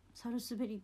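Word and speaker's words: 百日紅: 間違ってたらごめん 100 日くれないって書いてサルスベリーって読むんだってめちゃムズですよ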